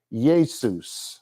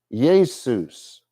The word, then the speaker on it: Jesus: Hebrew but from Greek the letter J was used to make the y or Y sound so even when the King James Bible was translated our modern word Jesus was pronounced Yus Yus in 1611 all the way through